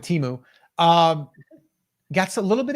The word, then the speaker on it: Temu: shared with me some temu that's how you say it I guess by the way it's not teu um that's I that's what I was told this week yeah I'm gonna go with Teemu um got a little